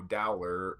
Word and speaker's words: Dowler: I'm just saying, you know, maybe we can get, you know, maybe we can get Taco Dowler that rhymes with Growler.